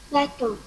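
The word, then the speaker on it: bateau: Okay, and the last one, if there is AU or EAU inside a word, we pronounce it simply as O. O. O. With rounded lips.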